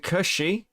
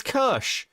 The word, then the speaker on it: Kirsch: Is it Kirshy? No, Kirshy? Is that? It's Kirsch.